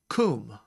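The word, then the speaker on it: קום: This is kum, and it means arise.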